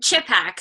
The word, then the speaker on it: Chipak: Chipak, so emphasis on the chip, Chipak. second emphasis on the ack.